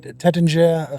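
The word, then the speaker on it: Taittinger: We're here for the, let's pronounce it right, Tattinger Regatta 26.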